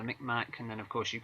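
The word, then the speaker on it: Mi'kmaq: Whether it's the, I don't know if I'm pronouncing this correctly, Micmac, is that the yep, correct pronunciation? Yeah, the Micmac, and then of course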